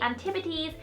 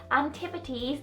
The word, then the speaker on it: Antipodes: And next is the Antipodes Skin Brightening Translucent Powder, and I tend to use this as a setting powder for my concealer and my concealer basically.